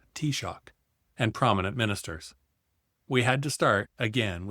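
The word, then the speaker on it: Taoiseach: We launched Black Dublin in the long library at Trinity University with the Irish T-shock, prime minister pronounced as T-shock, and prominent ministers.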